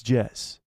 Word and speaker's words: Jez: It's pronounced, but with a Z sound, not S.